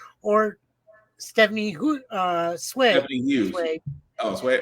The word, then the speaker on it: Hsu: Sway. Oh, Sway. Oh, that's how you pronounce it. I can't pronounce it. I'm trying my best. It's HSUI. Yeah. Yeah. I thought it was Hughes.